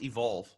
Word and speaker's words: EVQLV: much for having me by the way it's pronounced evolve okay sorry oh it's totally fine I mean